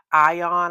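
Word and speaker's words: AION: I am also interested in the Lami ion.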